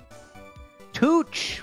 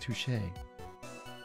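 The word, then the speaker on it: touché: words your honor touch mr wright uh your honor it's pronounced touche ah because [ __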